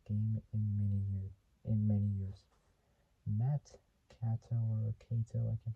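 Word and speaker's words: Kato: It's like saying the word Kate, but taking out the E and replacing it with an O.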